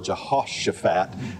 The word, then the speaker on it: Jehoshaphat: The pronunciation really said that ought to be, I always say Jehoshaphat. Pronunciation guide said it really ought to be more of a Jehoshaphat and a kind of a H sound there.